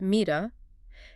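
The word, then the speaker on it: מידה: And in the singular it's mida pronounced mida.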